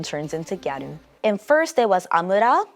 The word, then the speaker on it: gyaru: The word gadu itself, it comes from the English word girl. Um but you know Japanese pronunciation turns into gadu.